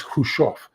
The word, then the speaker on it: Khrushchev: His name is Khrushchev.